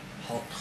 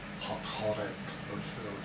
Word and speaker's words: Hathor: of the horned goddess Hathor from Egypt… or Hathoret, because many Egyptian female names in fact all end with "et" sounds— so anything else is not very correct to pronounce.